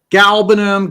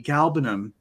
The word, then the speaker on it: galbanum: Galbanum, labdanum, labdanum. I don't know. To me, galbanum rolls so much better than galbanum. I feel like pushing that second syllable out kind of makes the words awkward.